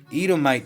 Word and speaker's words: Edomite: do me in that's Ito my descent that's how you say Itamar Ito might in Greek I do me in Edomite descent ruling the huronian Kingdom and